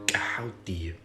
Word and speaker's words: Djehuti: Thoth, Djehuti.